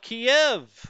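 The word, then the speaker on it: Kyiv: call it keeve or do we call it kiev uh you know now all of a sudden on the tv everywhere you hear keeve because the ukrainians pronounce it that way kiev as the russians pronounce it i don't know i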